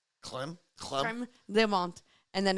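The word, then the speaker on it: crème de menthe: But I was like, how do you actually pronounce this in French? And they say creme de menthe. Clem? Creme de menthe.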